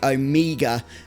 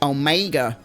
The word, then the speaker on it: Omega: correct me on pronunciation, I do say Omega. If I was American, I might say Omega. I am not.